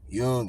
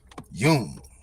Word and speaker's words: Jung: all right so okay it's yungan all right it's Yun so it's so because I I heard Bobby H talking about the dude and he was he was pronouncing it Yun all right all right so here we go Yun Carl Yun okay to describe Research